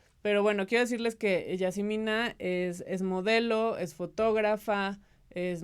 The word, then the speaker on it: Yazemeenah: Y está conmigo Yasmina Rossi, que en realidad se pronuncia Yasmina.